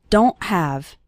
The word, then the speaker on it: don't: And at the end of the word don't, we don't really pronounce the T strongly. So don't say don't. Okay? It's more of a stop at the back of your throat. The sound cuts off very suddenly.